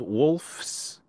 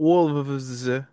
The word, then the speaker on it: Wolfs: streaming services, and it's called Wolfs, not Wolves. It's Wolfs, and it took me a second. Not spelled this way, Jose. Not spelled like Neil's t-shirt, Wolves of Glendale.